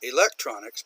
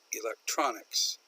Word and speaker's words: electronics: most famous for electronics after her electronics not electronics but electronics probably most famous for